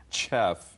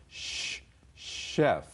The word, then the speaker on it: chef: have three different chs the ch in chef pronounced sh comes from french chef is a french word if the ch is